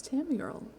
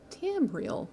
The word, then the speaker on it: Tamriel: you came for crafting continue our adventures across tammy girl two tamriel there we go that's how you pronounce things so until next time i'll see